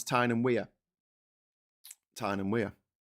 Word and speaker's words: Tyne and Wear: How do you pronounce Tyne and Wear? Tyne and Wear.